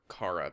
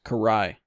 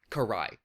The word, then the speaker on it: Karai: why can I not correctly understand how to pronounce her name I I always just want to call her Cara but I know it's not right it's Karai Karai um I agree with the comment that whatever